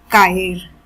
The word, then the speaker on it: caer: of the consonants, and there we learned that if there is a present after say, we say sounds like hard K in English. So that is the reason this verb is pronounced as caer, caer, which means to fall or to hang.